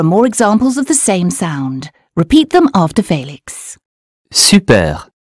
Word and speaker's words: sou: Je n'ai plus un sou. U or U? That was right. There's a U in plus, so the sound is U. And sou is spelled S-O-U, so the sound is OO.